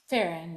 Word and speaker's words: Ferron: Is it pronounced Ferron? Farron, yeah.